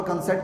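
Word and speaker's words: consent: ہیں۔ ویسے میں نے کنسنٹ، عام طور پر کنسنٹ کا لفظ سنا ہے، لیکن یہ تلفظ جو میں نے پروناؤنس کرتے سنا نا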